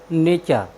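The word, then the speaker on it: nature: टी यू आर ई नेचर नेचर में होता है प्रकृति साथियों यहां पर आप देखते हैं कि टी के बाद यू आरई आया है इसलिए हमने टी का उच्चारण चचे किया है हमारा नेक्स्ट वर्ड मीनिंग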